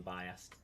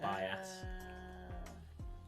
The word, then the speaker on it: bias: Didn't like me saying biased instead of bias. Because it's the proper way to say it is bias. Bias. No, without the D, just bias.